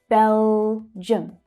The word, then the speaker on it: Belgium: And the I and the U create the unstressed vowel sound, the schwa, in the second syllable. Belgium, Belgium, Belgium.